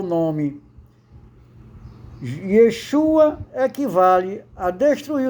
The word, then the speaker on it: Yeshua: Pronúncia em português, Yeshua.